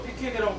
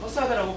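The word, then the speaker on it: façade: 퍼사드라는 단어는 이 불어로서 영어식 발음으로 패키드라고 발음되지 않고 이 불어 발음인 이 퍼사드라고 발음을 하게 됩니다.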